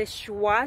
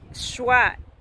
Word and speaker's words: schwa: never knew the terms before such as the schwa sand I had never heard about it before